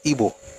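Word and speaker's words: Igbo: And by the way, my pronunciation will always be correct. It's Ebo.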